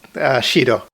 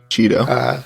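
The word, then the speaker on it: 4℃: And that's pronounced Shido. Shido.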